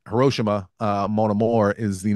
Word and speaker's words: Hiroshima: I think it's pronounced a little differently. Anyway, we say Hiroshima. It's Hiroshima.